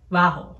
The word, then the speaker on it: vaho: with a v like vaho but either way it's pronounced there's this like really tricky thing for spanish speakers between v's and b's like like it's vaca